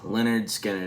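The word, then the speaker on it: Lynyrd Skynyrd: Guys, today we are covering their debut studio album, Pronounced Leonard Skinnard.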